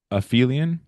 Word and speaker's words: aphelion: So it's pronounced perihelion and aphelion.